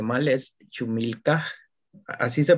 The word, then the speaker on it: Ch'umilkaj: Vi que su nombre artístico, ahí me disculpa si lo pronuncio mal, es Chumilca. ¿Así se pronunciaría o lo estoy pronunciando mal? Sí, es Chumilka.